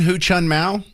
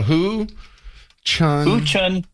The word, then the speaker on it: Hu Chunhua: Hu Chun Mao? Hu Chunhua. Oh, Hu Chunhua. Hua, or H-U-A for the last syllable there.